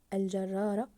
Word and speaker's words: الجرار: احسنتم الجرار الجرار احسنتم ضاعفنا حرف الراء في كلمه الجرار ليقلب ليقلب ممتاز ضاعفنا